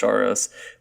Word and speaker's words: Soros: is like George Soros I think is actually it's pronounced shorris but like there's a